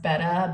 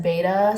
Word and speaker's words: betta: can't jump out um also I forgot it's pronounced betta but I only learned that like two years ago and then the rest of my whole life everyone said beta so I say both um okay so I'm